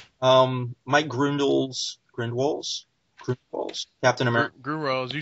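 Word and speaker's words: Gruenwald: Grindwalls, you said it right.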